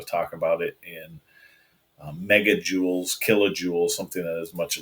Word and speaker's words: joule: and moving a meter it's called a Joule I love the book and that one because it says rhymes with cool so Joule is something